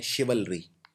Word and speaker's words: chivalry: Exam में आया हुआ है, जिसको बोलते हैं शिवलरी। शिवलरी मतलब भी होता है बहादुरी। ये शब्द थोड़ा सा मुश्किल है प्रोनाउंस करना।